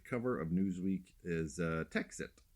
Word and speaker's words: Texit: of Newsweek is uh texit it's spelled te xit T like exit uh and uh can